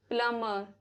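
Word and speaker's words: plumber: B silent रहता है after M, before T. For example, lamb, डम, थम, प्लमर, टूम्ब, वूम।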